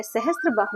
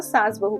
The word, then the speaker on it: सहस्त्रबाहु: लेकिन समय के साथ-साथ मिस प्रोनाउंस होते इस मंदिर को सास बहू का मंदिर कहा जाने लगा।